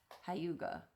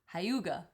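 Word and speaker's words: hygge: I guess it looks like h maybe it's pronounced hyuga.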